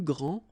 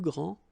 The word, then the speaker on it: grands: All right, so you don't pronounce this final S. Okay, so one more time. Il est le plus grand, elle est la plus grande, ils sont les plus grands, elles sont les plus grandes.